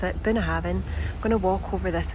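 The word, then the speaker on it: Bunnahabhain: buena haven distillery so that is how you pronounce it been having i'm gonna walk over this way just to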